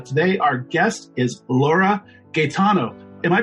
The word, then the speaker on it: Gaetano: and today our guest is Laura Gano am I pronouncing that right Laura yeah you're pronouncing it